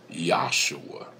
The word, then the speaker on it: Yahshua: Now, in the Hebrew alphabet, as has been said before, there was no J. So, actually, the name of Joshua was actually pronounced Yahshua.